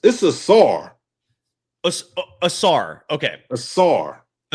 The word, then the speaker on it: Asar: It's a SAR. A SAR. Okay. A SAR. Asar Thompson. Asar. Yeah, well, I don't even remember what I said earlier. It's Asar. I'm doubling and tripling down on Asar.